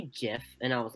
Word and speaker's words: GIF: And he was like, no, it's a GIF, it's a G. And I'm like, have you ever heard of soft G's? They can make the J sound too.